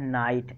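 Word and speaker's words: knight: तो दोस्तों के जो है यहाँ पे साइलेंट माना जाता है, तो साइलेंट नहीं है ये, और इसको हम जो पढ़ते हैं नाइट।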